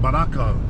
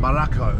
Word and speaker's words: Barako: Barako. Yeah, Baraka's like you're an alpha, you're like a man. Barako.